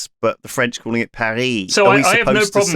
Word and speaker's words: Paris: That's how they So you're saying that in English Paris is Paris and in French Perry is Perry. So you're not you're speaking French if you say Perry.